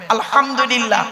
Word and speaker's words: আলহামদুলিল্লাহ: আলহামদুলিল্লাহ, আলহামদু, আলহামদু নয়, আলহামদুলিল্লাহ।